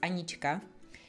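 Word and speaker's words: Anička: in the Czech Republic It's pronounced anichika and that's just what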